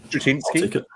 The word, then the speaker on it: Straczynski: Michael Straczynski. Yeah. That's actually bang on, mate, isn't it? Straczynski.